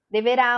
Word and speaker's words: deverá: o assento deverá amanhã deverá amanhã a gente percebe com o som que a sílaba tônica no amanhã amanhã e que a sílaba tônica no deverá é o rar aqui é o sol